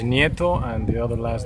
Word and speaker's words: Nieto: that's correct no the last name is NATO and the other last